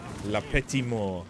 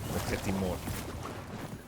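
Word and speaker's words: La Petite Mort: I forget if you pronounce the T or not. I know that you say muerta in Spanish, but I do think Spanish is generally pronounces T's a bit more. No T pronunciation on the end unless followed by an E.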